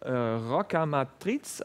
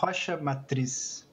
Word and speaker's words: Rocha Matriz: Is it Roca Matriz, or how is it pronounced correctly? In Portuguese, it would be Rocha Matriz.